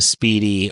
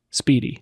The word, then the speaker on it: Spiedie: how it's written out, it is not necessarily spelled in a way that you would think would elicit the pronunciation Spiedie.